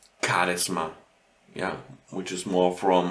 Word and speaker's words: Charisma: So you have here these kind of words which are not pronounced with a h, but more with a k.